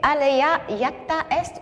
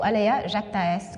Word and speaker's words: Alea jacta est: La bonne réponse était Alea jacta est ou Alea jacta est, comme le prononcent certains, mais on me dit qu'en latin, on prononce jacta.